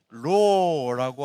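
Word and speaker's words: לא: 로라고 하는, 이게 이제 로라고 읽는데요.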